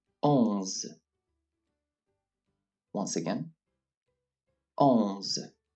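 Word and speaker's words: onze: pronounced as an s ohms once again alms it is the same pronunciation as in english when wanting to say on but without actually pronouncing the n so we would say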